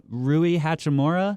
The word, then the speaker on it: Rui Hachimura: But I do think they got a very good piece in the draft in Rui Hachimura.